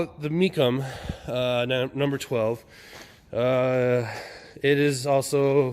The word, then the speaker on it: Mecham: It's pronounced Meachem, which is very odd because it's not spelled that way, but okay. So we'll call it the Meachem, number 12.